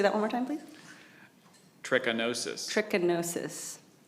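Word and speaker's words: trichinosis: Espalier or Espalia is spelled especially. This is scary. tchinosis.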